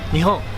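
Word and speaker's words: 日本: Nihon.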